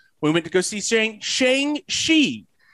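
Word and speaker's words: Shang-Chi: went to go see shang shi it's it it looks like shang chi but that's how the correct pronunciation is so we went to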